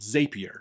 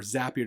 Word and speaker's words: Zapier: Another tool I love to use, and I've been using it for a very long time, is called Zapier, or Zapier, depending on how you want to pronounce it.